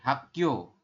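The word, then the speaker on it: 학교: Kalau yang ini, yang giok di akhir. Ya, ini giok di akhir. Dibacanya K. Berarti hak. Setelah hak, giok ditambah dengan yo. Berarti yo. Seperti ini. Hak yo.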